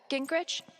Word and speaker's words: Gingrich: the radio of course it's soundproof steph uh gingrich is that how you say it yeah that's